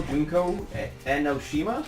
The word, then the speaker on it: Junko Enoshima: She's the real Junko Enoshima?